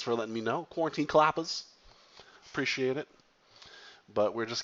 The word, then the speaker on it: Qappas: fog picking in the map klappas oh it's pronounced klappas my pal Vince quarantine kalapas thank you for